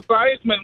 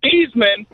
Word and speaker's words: Theismann: Yesterday he said Joe Theismann was named Theismann, and they changed his name to rhyme with Heisman, and then you keep saying that your dog doesn't like Jimmy, and it does.